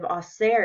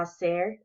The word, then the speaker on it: hacer: ¿Qué vamos a hacer? Is asking, what are we going to do? And ¿qué van a hacer? Is asking, what are they going to do? Notice how the H in hacer is silent.